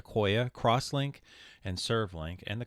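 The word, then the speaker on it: IQOYA: a look at what these codecs are it's pronounced akoya crosslink and servlink and the crosslinks are typically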